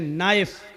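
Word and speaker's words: knife: जैसे इंग्लिश में नाइफ किसको कहते हैं? चाकू को। नाइफ के माना चाकू लेकिन के लिखा जाता है। बोला नहीं जाता। वह साइलेंट रहता है।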